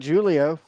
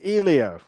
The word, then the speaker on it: Helio: said Julio last week no no I said Helio ilio H is a j j is an H in pronounciation well it's not Julio it's hel it's Elio ilio we need to phone